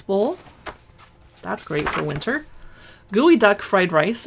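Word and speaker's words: geoduck: that's great for winter gooey duck fried rice if you don't know what a gooey duck is it's a seattle thing look it up it's spelled g-e-o-d-u-c-k pickled pork rind and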